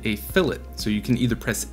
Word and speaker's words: fillet: term but uh in cad world it is pronounced fillet so same thing as the chamfer i'm going